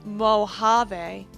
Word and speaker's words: Mojave: Traders now are we in Spanish Luby it's pronounced Mojave oh I never learned